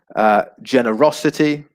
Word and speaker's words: generosity: the final two syllables generosity again just before the final two syllables cheerfulness reliability ambition talent